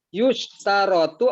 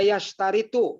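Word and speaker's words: يُشْتَرَطُ: Terakhir, yustarotu apa yastaritu bacanya. Itu kan harus dilihat. Majul apa ma'lum? Yustarotu. Kalau dibaca yastaritu, paham tidak? Enggak. Kalau dipaksakan, dia mensyaratkan gitu. Ya. Kalau dipaksa, tapi bacaannya harus Yustarotu. Fi af'ali syuru' an yakuna khobaruha jumlatan fi'liyatan.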